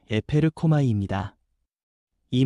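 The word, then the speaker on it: ἐπέρχομαι: 여기서 성령이 임하신다는 말은 헬라어 발음으로 에페르코마이입니다.이 말은 잠깐 스쳐 지나가는 방문이 아니라 이에서부터 실제로 덮치듯 임하여 삶을 바꾸는 능동적인 역사라는 뜻입니다.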